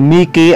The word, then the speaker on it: mihi: Except for it is pronounced K in the two words nihil and mihi. May na-encounter akong mihi sa poder ni San Benito. So, Mickey ang basa doon.